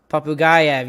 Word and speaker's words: Popugayev: But Nikita Popugayev, I hope I say that right. He's a Russian. Popugayev.